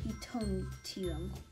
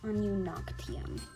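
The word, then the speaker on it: ununoctium: The first chemical element is hydrogen and the last is utonium. Very good, but the last word is pronounced anunoctium.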